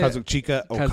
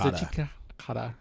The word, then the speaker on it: Kazuchika Okada: White versus Kazuki, or how do you say Kazuchika Okada. Kazuchika Okada.